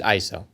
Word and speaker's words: ISO: organization for standardization and the correct way to say it is ISO I'm be